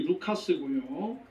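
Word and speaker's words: Λουκᾶς: 이렇게 되시기를 바랍니다 이 누가라고 하는 이름은 헬라 말로 정확한 발음이 루카스고요 뜻이 빛나다 총명하다 빛을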